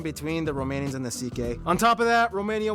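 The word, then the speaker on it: Székely: Then we get to the CK people, the second most populous minority. Yes, that's how you pronounce it, CK.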